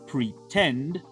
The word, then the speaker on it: pretend: Si escuchan bien, el verbo pretend lleva la fuerza vocal al final, en la sílaba final, perdón.